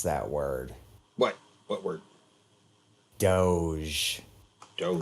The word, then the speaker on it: Doge: I am of the opinion that it is either dog, and the E is silent, or doggy. Doge. I've always gone with dog, though, because it sounds like dog.